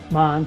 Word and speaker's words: Mahn: Mahn, Maine, how do you say that properly? Mahn, yeah.